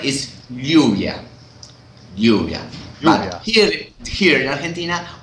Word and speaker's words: lluvia: The appropriate way to say that is lluvia, similar to Spain. But for a long time ago, we started to say lluvia, and that double R, no? It became, it's pronouncing like shoe. Yeah. Like S H in English. Yeah. In English. Okay.